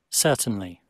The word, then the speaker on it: certainly: Certainly, certainly, Certo. certainly, Certainly. Certainly. Certainly. Certainly. Certainly. Certainly. Certainly. Certainly. Certainly. É sempre lembrando, gente, o Y tem que ser pronunciado claramente. A sílaba forte é sir, né?